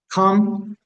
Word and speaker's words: come: Come, que no se pronuncia la E, coming, o algunos más, ¿no?